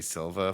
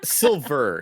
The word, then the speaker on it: Silver: a Chosen versus Terry Silva fight is weird and exciting to me. It's Silver, not Silva. I'm saying it like you would an Italian. Okay, we don't pronounce R's. Okay. That's what that is.